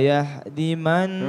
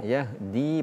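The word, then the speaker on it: يَهْدِي: Innallaha la yahdiman. Yahdi panjang dinya. Ulangi.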